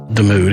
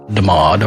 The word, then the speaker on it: DeMood: I assume it's DeMood and not DeMaud or Demaudu. Demood.